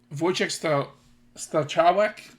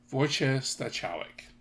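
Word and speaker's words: Wojciech Stachowiak: Um, Voyche Stawwick. Um, Voyche Stawwick.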